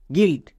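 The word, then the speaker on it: guild: এলটি এর জন্য লয়েটো গিলড।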